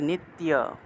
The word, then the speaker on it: নিত্য: তো অনেকে নিতীয় বলে ফেলেন, নিতীয় হবে না, তিয় একসাথে, নিত্য, নিত্য, নিত্য একসাথে। আপনারা এইভাবে উচ্চারণ করিয়েন, নিত্য, নিত্য। নিতীয় বলা যাবে না, নিত্য বলতে হবে, একসাথে বলতে হবে।